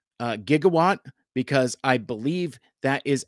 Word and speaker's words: gigawatt: your preferred pronunciation is I say jigawatt because that's how Doc Brown says it in the movie and uh in Back to the Future um Jeremy from Transmissions um says uh gigawatt because I believe that